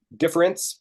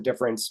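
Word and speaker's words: différance: uh English you can I guess it kind of works difference but spelled with an A d-i-f-f-e-r-a-n-c-e okay and what he wants to show is actually in spoken language that you can't tell the difference if I say difference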